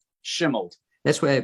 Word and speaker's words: Shimeld: Shimeld. That's why I pronounce it correctly that way.